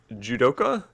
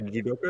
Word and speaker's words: judoka: So you were, is it judoka? You were yeah, a judoka.